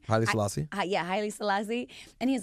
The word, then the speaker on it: Haile Selassie: Yeah, Haile Selassie.